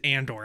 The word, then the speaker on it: Andor: now I'm like dude it's just Andor I don't care if